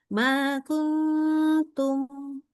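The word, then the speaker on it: ما كنتم: Jadi lidahnya di kayak mau baca kutum. Nah, lidahnya. Tapi mau lidahnya seperti itu, tapi kita baca makuntum. Oke? Jadi nggak mungkin bacanya makuntum. Kalau kuntum yang kena pangkal lidah itu salah. Oke?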